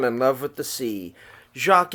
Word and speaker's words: Jacques: love with the sea Jacques is a French pronunciation his name in America we would have probably called him Jack Jacques fell in love